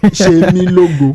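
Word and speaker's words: Oluwasemilogo: Oluwasemi Logo. Oluwasemi Logo. The Yoruba the S is Oshe say she. Shemi Logo.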